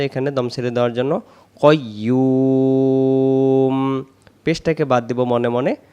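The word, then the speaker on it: قيوم: মু দেওয়া আছে এখানে দম ছেড়ে দেওয়ার জন্য কাইয়ুম পেশটাকে বাদ দিব মনে মনে এখানে একটা সাকিন দেব এটাকে বলে আরিদি সাকিন উচ্চারণ হবে কইয়ুম কইয়ুম না কয়ুম হবে না কইম ইয়া পেশ ইউ যদি আমরা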